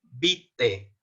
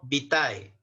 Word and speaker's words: vitae: dos cosas entonces hay hoy vamos a pronunciar como el currículum vite no vitae entonces a partir de